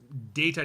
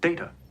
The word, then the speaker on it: Data: data look at this data what my name it is pronounced data oh you called me data what's the difference one is my name the other is not yeah I love that